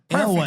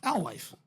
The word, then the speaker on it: Alewife: Alewife. W-I-F-E. It's Alewife. Our Life.